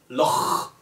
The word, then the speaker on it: Loch: I think for foreigners it's pretty hard to pronounce Loch. You have to do some guttural sounds. You know? Loch.